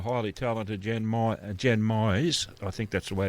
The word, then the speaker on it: Mize: It's Myes. There you go. as in like maximize, minimize, customize is what I always tell people.